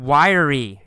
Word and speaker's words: wiry: we see the word wiry it's spelled WI ry but in fact we say it with three syllables why re wiry wiry wiry means thin with muscles